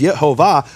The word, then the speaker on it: Yehovah: So if we know that the acronym is Shachak, which is Shvach Olam Kamatz, and it rhymes with the vowels of Lit Olam, which is Yehovah, there's no way you can get it wrong.